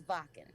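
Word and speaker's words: Wacken: it's spelled whacking but it's vodka vodka okay so i won't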